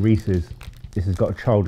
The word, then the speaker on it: Reese's: not had these before because i was calling them reese rather than reese's this has got a